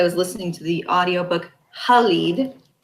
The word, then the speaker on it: Khalid: listening to the audiobook, Khalid, which was how the uh, narrator pronounced it, which I think is actually how it should be pronounced if you're actually speaking the language that they're coming from.